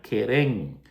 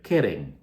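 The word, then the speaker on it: קרן: llamas en verdad es la palabra querén. Ah, querén. K e acento en esa e r e n. Tendría que ser Keren. Keren, así tendría que leer, que se traduce literalmente como cuerno.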